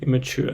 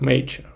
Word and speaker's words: immature: uh immature mature and immature the word that I learned how to pronounce correctly because when I read it uh like in my head I pronounce it like nature like nature but it